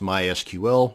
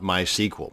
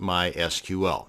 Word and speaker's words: MySQL: And yes, it's pronounced MySQL, not MySQL.